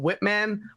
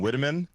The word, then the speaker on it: Whiteman: skin that made you pronounce her last name as Whiteman instead of Whitman. But like either way, I'm here to say it's okay however we pronounce it. That's cute. I thank you. There's an E in there.